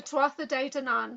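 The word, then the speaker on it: Tuatha Dé Danann: oh yeah, the Tuatha De Danann, so like the Hmm.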